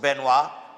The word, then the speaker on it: Benoit: Coming from her grandmother, Miss Benoit, pronounced Benoit. Okay, but I got that right. I know that, you know, Benoit.